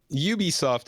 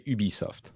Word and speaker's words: Ubisoft: right way your hunch Ubisoft is fine if you're speaking in English in French we say Ubisoft all right well there